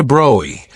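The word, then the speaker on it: de Broglie: Louie de Brgley pronounced roughly Droy came from a family with centuries of history in French military and political affairs.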